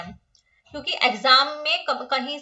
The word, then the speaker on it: MACH: और फोर्थ है हमारे पास मैक, मैक है MACH, माच नहीं है ये है मैक, इसको मैक प्रोनाउंस करेंगे।